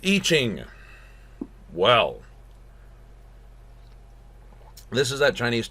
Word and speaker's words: I Ching: It says I Ching, but it is pronounced I Ching.